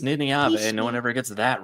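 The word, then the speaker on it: Nynaeve: It's also pronounced Niniave.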